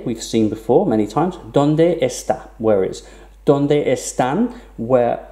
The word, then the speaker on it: donde esta: estan where are now it's equally fine to pronounce this done desta for fluency don't des that where you would actually drop one of the ease when you pronounce the words likewise donde esta also